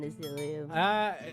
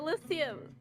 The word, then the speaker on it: Elysium: I mean, I will eat it because of the nutrition, but Northern Asilium.